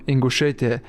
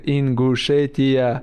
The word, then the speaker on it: Ingushetia: He from Ingushetia. How I say Ingushetia? I told him like you have to Ingushetia, and he do something right and say Ingushetia. He said it right.